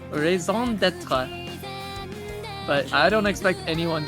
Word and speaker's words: raison d'être: He says "rise on Dutcher" or something.